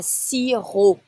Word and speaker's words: sirop: Un sirop. Don't say the P. Un sirop.